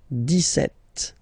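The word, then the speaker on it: dix-sept: clear but then for the pronunciation deset okay so you don't insist on the S deset deset set okay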